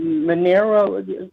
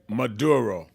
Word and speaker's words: Maduro: But what I'm trying to say is this this president of Venezuela um Monero can you pronounce his name? Maduro.